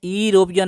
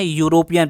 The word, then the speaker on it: European: देखिए प्रोनाउंसिएशन ध्यान रखिए, EUROPEAN, इसे हम लोग क्या पढ़ते हैं? यूरोपियन नहीं पढ़ते हम लोग, ठीक है ना। हम लोग क्या पढ़ते हैं? यूरोपियन पढ़ते हैं, यूरोप के लोगों को यूरोपियन कहा जाता है।